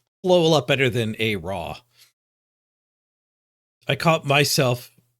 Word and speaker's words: ARAW: There's just like there's something bad about the silent W, and it's like a different pronunciation of the A. More like an O, raw. The RAM. Rams up here, raw.